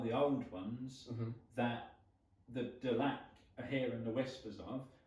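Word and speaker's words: Delaque: I'm not going to talk too much about the links between the Delac, Delacue, Delacroix.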